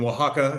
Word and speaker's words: Oaxaca: So yeah, again, Oaxaca is how you pronounce it.